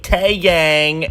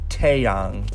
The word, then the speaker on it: Taeyang: before with this one I've heard many people say Taeyang and I nearly fell over the a and many languages has an ah sound therefore it's Taeyang alright next one the